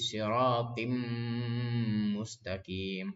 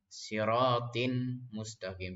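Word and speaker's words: صراطٍ مستقيم: Jadi siratim mustaqim, bukan siratin mustaqim, tapi disambungin.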